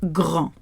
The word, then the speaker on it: grand: So the first one ends with a D. D is not in Frolic Barbecue. It's pronounced grand.